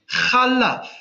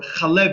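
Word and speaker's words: חָלָב: The word for milk is chalav, or chalev, because it's adjoined to the next word imo, so it becomes chalev.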